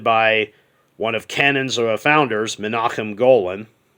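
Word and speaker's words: Menahem Golan: And it was directed by one of Canon's founders, Menachem Golan. Sorry, that's how his name's actually pronounced.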